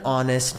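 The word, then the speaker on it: honest: কেন হলো কারণ দেখেন আপনি যখন অনেস্ট বলতেছেন এইচটা উচ্চারণ করা হচ্ছে না ও একটা উচ্চারণ আসতেছে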